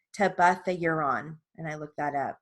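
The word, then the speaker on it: tebuthiuron: me say that again it's a short eye i looked it up to buff the uran to buff the euron and it's spelled t e b u t h i u r o n tabatha uron and i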